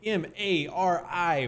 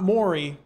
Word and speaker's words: Mari: M-A-R-I. Mari. Not Mori, where they go for DNA tests, but Mari. Which actually, that might be how it's pronounced.